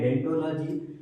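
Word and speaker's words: odontology: इसको हम पढ़ते हैं डेंटोलॉजी, लेकिन आगे वो लगा होता है जो कि साइलेंट होता है। लिखा जाता है ओडेंटोलॉजी, लेकिन पढ़ा जाता है सिर्फ और सिर्फ डेंटोलॉजी।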